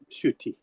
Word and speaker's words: Ncuti: I'm told that in Rwanda, NCUTI is pronounced sh. So that's why I'm calling it Nshuti. Or maybe I should be calling it Nkuti, I don't know.